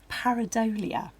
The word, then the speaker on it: Pareidolia: Stuart Morris, who is here with his film Pareidolia.